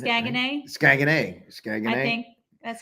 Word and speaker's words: Saguenay: So let's talk about Saguenay.